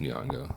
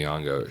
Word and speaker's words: Nyong'o: I think her name's pronounced Nyong'o. I'm not sure. But I think it's Lupita Nyong'o.